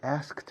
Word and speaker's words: asked: Sonido de T, porque asked es ED al final. Pero la pronunciación es una T.